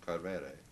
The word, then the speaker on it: Coelbren: at the port of Coelbren. That's the Welsh way of pronouncing it.